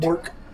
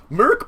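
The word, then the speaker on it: Mörk: umlaut, Mork.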